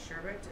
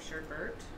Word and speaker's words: sherbet: i'm using lime sherbet did you guys know it's pronounced sherbet instead of sherbert you know what this